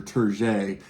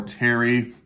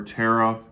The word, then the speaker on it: Terje: I know it looks like Terge or Terje. I think pronounced more Terry or Tara, whatever.